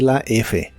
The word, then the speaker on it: laugh: que en el presente No termina con la letra f pero sí con el sonido que hace la f laf la en el